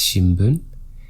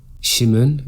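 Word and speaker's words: 新聞: It's not shinmun, even if you think you hear an mu or an sound before that, it's shinbun. Shimun and shibun are incorrect.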